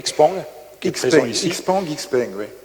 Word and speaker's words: Xpeng: Xpeng, oui. Xpeng, il prononce Xiaopeng, et avec une prise de participation de 5%.